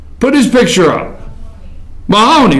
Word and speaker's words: Mahoney: John, is it Mooney? Is that his name? Could somebody pay attention? I got a picture of it. Is that how you pronounce his name? Put his picture up. Mahoney, right?